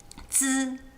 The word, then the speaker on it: zi: It's not just zzz, it's zzz, like with a D-ish sound at the beginning. Zi.